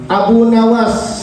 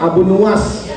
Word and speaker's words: Abu Nuwas: Qala sudah berkata asyairu seorang syair Abu Nawas, seorang syair Abu Nawas bidominun, Abu Nuwas berarti bacanya Abu Nuwas, bidomin nuni nuwasun, wabil wawi dengan huruf waw nuwas.